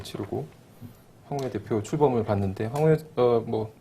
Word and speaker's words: 황우여: 황우여 대표 출범을 봤는데 황우여 간단하게 황우리어라고 하다가 왜 황우여로 바꿨어요? 아, 이름이 우려스럽잖아요. 우려스러워서. 예. 예. 한자 발음 그대로 하면 우려가 맞죠.